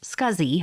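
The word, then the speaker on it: SCSI: least four SATA ports small computer system interface pronounced scuzzy hard drives join the storage Market in 1986.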